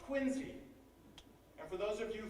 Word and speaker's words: Quincy: the opening chapter of this book is called quincy and for those of you from out of town that is how it's pronounced don't make that mistake around here you'll